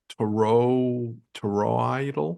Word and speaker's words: toroidal: We are physically toroidal, TOROIDAL. Anybody know how to pronounce that?